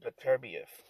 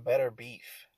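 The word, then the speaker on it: Beterbiev: finally I finally uh I finally know how to pronounce his name um I used to call him better beef which is weird for me to for me to talk about another man that way and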